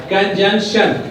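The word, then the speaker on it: conjunction: और इसमें both N क्या है? साउंडेड है, यानी दोनों एन को जो है ना हमने पढ़ना है, इसमें प्रोनाउंस करना है, कंजंक्शन।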